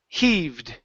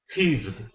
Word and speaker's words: heaved: the H is there heed heaved there you go she heaved herself off the bean bag she he she heed herself off the Bing bag uhuh one more time pronounce that H she he heed she